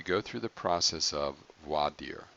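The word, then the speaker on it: voir dire: process of WOD dear now that again pronunciation you're gonna hear a lot of different ways void ear for dear a Vlade or the reason there's so many pronunciations not that it really matters is that it's really bad french latin it's really not even proper latin but it means literally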